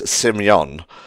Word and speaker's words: Simyon: His real name is Simyon, which is Russian, but everyone just calls him Simon because it's easier to pronounce in Japanese.